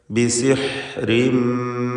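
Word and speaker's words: بسحر: ബിസിഹ്രിൻ എന്ന് പറയുമ്പോൾ ഹ തൊണ്ടയുടെ മധ്യമാണ് മഖ്റജ്. ബിസിഹ്രിൻ എന്ന് വ്യക്തമാക്കി ഹ ഉച്ചരിക്കുക.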